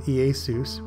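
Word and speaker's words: Iesus: of the Bible from late latin iasis properly pronounced as three syllables from greek iacs which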